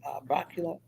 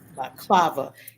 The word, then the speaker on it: balaclava: It's a coolant shirt with how do you pronounce that? Balaclava. Balaclava.